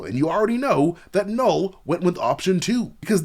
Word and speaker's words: Knull: you already know that null went with option two because that's what the silent k in null stands for it stands for keeping it real man and so null got